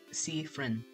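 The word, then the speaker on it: Siffrin: Sifrin, more like Sifrin. Pronunciations if you need them.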